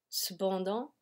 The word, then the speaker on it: cependant: Cependant, il ne sait pas qu'il va passer son examen aux limites de la zone pénombre.